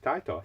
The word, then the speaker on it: Taito: So, like we say, that's how you pronounce it. Not fucking Tato, it's Taito.